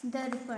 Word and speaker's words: दर्पण: जैसा कि ये लिखा हुआ है दर्पण, है ना। तो इसका उच्चारण हम कैसे करेंगे, द रो, द रो, प ण, क्या हो गया, दर्पण, दर्पण।